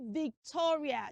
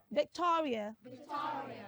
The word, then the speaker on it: Victoria: Don't say Victoria. Children, say after me, say Vic. Tor. Rear. Victoria.